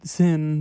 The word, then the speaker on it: Sinn: Actually, it's pronounced Zinn.